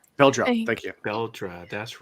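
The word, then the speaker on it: Beldre: Bel and the audio book is pronounced Beldra. Bel. Thank you. Beldra. That's right. I was saying Belder.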